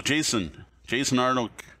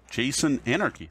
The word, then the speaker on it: Jason Anarchy: So Jason Arnold, I'm saying it wrong. Jason Anarchy.